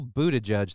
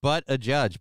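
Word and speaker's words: Buttigieg: uh but a judge is it wrong to say his name is butt a judge this whole Buddha judge thing I don't believe Buddha judge there's no no it's but a judge but a judge it's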